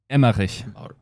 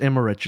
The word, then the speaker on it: Emmerich: you say his name emma no it's emmerich it says emerge right